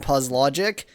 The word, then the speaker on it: Puzlogic: Hey, it's Puzlogic. Almost positive that's the intended pronunciation of that name.